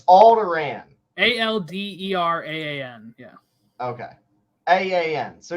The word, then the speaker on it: Alderaan: does speak very royally though yeah so it's pronounced i think but uh so it's alderaan a-l-d-e-r-a-a-n yeah okay a-a-n so yeah there's it's not old iran like around weasley yeah okay got it you